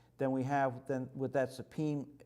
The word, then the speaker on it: Sapim: Some people will tell you that it's pronounced Sapim or Sapim, but I know the name of the guy that owns the company, and I've been to his factory in Belgium, and he pronounces it Sapim, so that's good enough for me.